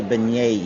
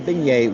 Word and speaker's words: beignet: And so, from what I understand, you pronounce the beignet with a Y. Beignet. With a Y. There's not a Y in it, but you pronounce it with a Y. Beignet. Kind of like Yay.